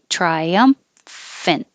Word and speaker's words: triumphant: one two three triumphant triumphant if you want to think of separating the m and the f in different syllables that could be helpful